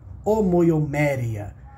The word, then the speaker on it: omoiomérea: Em grego é assim que pronuncia omoiomérea, que é a união de duas palavras.